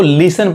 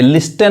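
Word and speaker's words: listen: क्या पढ़ेंगे, इसको लिसन पढ़ेंगे, लिस्टन नहीं कहेंगे, जिसका मतलब क्या होता है, सुनना।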